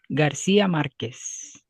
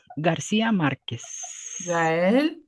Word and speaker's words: García Márquez: So um Gabrielle Garcia Marquez um Francisco did I pronounce the name correctly? Francisco. Okay. Garcia Marquez.